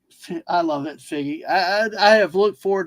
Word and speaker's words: Figgie: I've only heard it pronounced like Figgy.